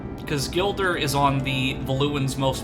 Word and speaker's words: Gilder: these names, so like I didn't realize that his name was Gilder, so I called him Glider. Which, I mean, that's still a pretty cool name regardless, but his name is, I believe, pronounced Gilder.